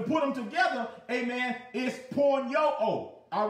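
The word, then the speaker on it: πορνεύω: And that word is pronounced porn-yo-o, porn-yo-o.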